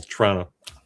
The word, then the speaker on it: Toronto: It's kind of like it's almost like one syllable. Toronto.